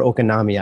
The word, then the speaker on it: oikonomia: this term of like oikonomia. Is it oikonomia or okonomia? I don't know. Oikonomia. So the emphasis is on the final syllable.